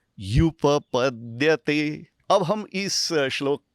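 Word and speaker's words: ह्युपपद्यते: युपपद्यते, ये एक ही शब्द ही और उपपद्यते, इन दो शब्दों की संधि से बना है और उच्चारण क्या करेंगे? युपपद्यते।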